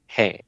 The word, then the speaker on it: हैं: हैं? Okay, so you don't really pronounce the N. Yeah, N is very faint.